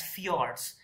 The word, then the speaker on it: fjords: this is known as fjords f j o r d s f i o r d s many times so this j is pronounced as y so in norway and